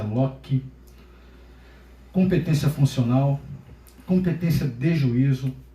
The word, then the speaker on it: loci: Ratione loci, a gente escreve loci, mas se pronuncia loci.